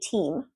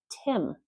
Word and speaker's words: team: If you say team and not pronouncing it as a long E but a short I, you're saying Tim. And Tim is a person's name.